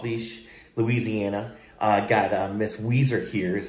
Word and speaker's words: Ouiser: uh training off leash louisiana i got miss weezer here's how you pronounce her name she's about 10 months old